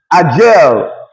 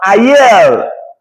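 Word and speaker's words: ayer: Peru will pronounce ayel. Bolivia will pronounce ayel. But when you go to Chile, you go to Argentina, you're going to get a gel. You go to Dominican Republic, is a gel.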